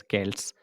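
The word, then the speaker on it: Celts: to speak the language known as केल्टिक language spelling C ई एल टी एस के्ट्स के्ट्स people and their language was कैल्टिक dear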